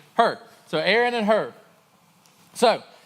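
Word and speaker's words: Hur: people there Aaron and who her h-u-r I guess that's how you say it sounds good enough to me her so Aaron and her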